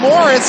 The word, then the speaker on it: Marias: There's Ryan Morris. It's spelled Marias, pronounced Morris, but he's just plain fast to me.